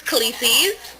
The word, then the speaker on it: Khaleesi's: So the name of your business is Khaleesi's, right? Am I pronouncing it correct right now? Yes, the name is Khaleesi's.